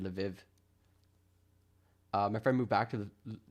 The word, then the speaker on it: Lvov: It's pronounced Lvov. It's like a Lu. Lvov. I would have said Lviv.